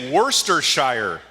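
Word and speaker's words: Worcestershire: not quite sure but somebody told me you say werster Shire werster Shire but why do we have the CES in there it should say worse Esther Shire that's that's how we spell it is very difficult to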